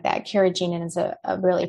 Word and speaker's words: carrageenan: And then, you know, anything, and, you know, as far as like the thickeners go, carrageenan, it's an easy one to avoid.